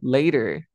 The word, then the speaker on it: later: y explico truco bro la t entre dos Unidos de vocales como er later See you later es